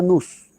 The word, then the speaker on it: nous: El nous. Muy bien, nous. Se pronuncia nous. Se escribe nous.